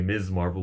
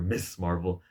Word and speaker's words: Ms. Marvel: your favorite young Avengers, Ms. Marvel, that's how you pronounce her name, by the way, Ms. Marvel, with the emphasis on the Z. All you YouTubers calling it her Miss Marvel, acting like you know what you're talking about.